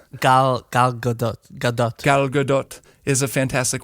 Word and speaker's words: Gal Gadot: And it's too bad because, how do you pronounce it, Jason? Gal Gadot. Gal Gadot.